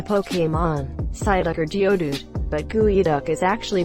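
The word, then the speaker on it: geoduck: isn't that a pokemons side Locker Geodude but gooey duck is actually pronounced gooey duck so it doesn't really fit with either gooey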